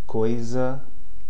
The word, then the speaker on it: coisa: S between a single S between two vowels is pronounced like a Z. Okay? Examples: coisa, mesa.